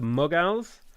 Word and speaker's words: Mughal: producing 1500 production insane okay the mughals the muggles the non-wizarding wizards insane it's pronounced mughal okay and then you have